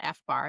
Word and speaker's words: FBAR: So I read something the other day about FBAR. Is that how it's pronounced?